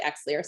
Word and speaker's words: Xlear: Did not use, we use Xlear, or Clear is the proper way to say it, but a lot of people say Xlear, so I'll, you know, voice that.